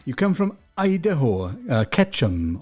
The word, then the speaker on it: Ketchum: come from idaho uh ketchum almost sounds like ketchup doesn't it but it's ketchup it's spelled very similar you know with a k but yes ketchum idaho which is in